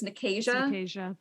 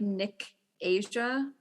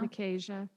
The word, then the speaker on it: Nicasia: But that leads to like Nicasia and Nicasia. So because I listened to it, it's Nicasia.